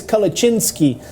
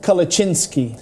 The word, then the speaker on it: Kalecinsky: uh he said tarek my name is kalachinsky it is Polish name I am German but my uh my Heritage is Polish hence now I call them Earth kalachinski well uh saying it correctly uh means a lot